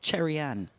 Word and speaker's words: Cherry-Ann: The reason is that they're both the hard CHs. Now, if you hear us saying that, not Chanel and not Cherry-Ann, that's because they're pronounced that way. Chanel and Cherry-Ann.